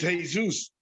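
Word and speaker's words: Jesús: right he was from the bronx the correct pronunciation is hey zeus mexicans have snuck in everywhere every single place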